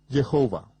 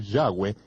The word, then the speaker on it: Yahweh: parte de los gentiles el mundo de habla inglesa lo ha pronunciado aún peor al pronunciar la y como J jehova ni siquiera cerca cerca de 7000 veces aparece el nombre del señor Yahweh en las escrituras hebreas